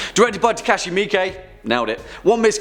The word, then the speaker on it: Miike: 1 of this list, I pronounced Takashi Miike as Takashi Mike, and I'm sorry. Genuinely, but I've actually been pronouncing it Mike for like over a decade now, so thanks for the heads up, I guess.